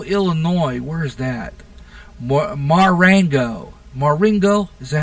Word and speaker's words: Marengo: This is out of Marengo, Illinois. Where is that? Marengo. Marengo? Is that how it's pronounced?